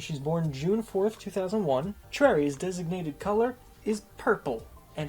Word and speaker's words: Choi: her surname Chui now it's spelled c-h-o-i so a lot of people will say Choi but in Korean it's pronounced Trey so definitely don't call